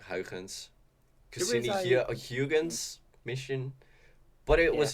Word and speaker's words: Huygens: How, okay, it's supposed to pronounce Huygens, but when you're talking English, it's I, so Huygens because I, it was a Dutch I astronomer, and mm.